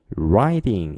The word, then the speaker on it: riding: 자, 이런 것처럼 riding 이 발음하실 때도 알파벳 R이죠. R 발음은 이렇게 한다고 했어요. 따라해 주세요. 이렇게 하는 거예요. 그래서 라이딩이 아니라 riding 이렇게 되는 거예요. 약간 입술을 동그랗게 해주시고요. 루 발음 해주신 거예요.